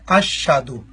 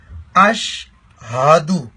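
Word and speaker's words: أَشْهَدُ: آغاز لوگ کرتے ہیں بعض لوگ ایسے پڑھتے ہیں اشہدو. اشہدو جس کا اگر لکھیں تو ایسے تلفظ بنتا ہے اشہدو. لکھنے میں ایسے ہے, پڑھنے میں بھی ایسا آتا ہے جو کہ انتہائی غلط ہے. صحیح تلفظ کیسے ہوگا؟ اشہدو. ہاں جو ہے جو مس ہوتی ہے اس کو ہم نے کلیئر کرنا ہے, واضح کرنا ہے, اور شین پر شد بھی نہیں بنانی.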